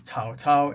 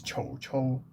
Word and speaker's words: 曹操: So, yeah, it's Cao Cao in Mandarin, but the actual pronunciation of this guy's name is Chou Chou, which should theoretically be closer to the actual pronunciation of his name 1,000 years ago.